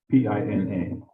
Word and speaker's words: Pina: Pina as in pineapple, that would have a little squiggly line over the end.